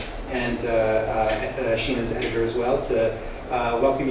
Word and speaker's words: Sheena: By the way, a point on pronouncing her name. There we go. I have known her as Sheena all of the time I've known her. She was known as Sheena in prison. She tells me she's been known as Sheena for longer than she was known as Sheena, but Sheena is the way her name is supposed to be pronounced.